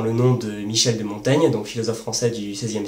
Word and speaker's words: Montaigne: nom de Michel de Montaigne donc philosophe français du 16e siècle dont le nom à mon avis se prononçait montagne et par exemple j'ai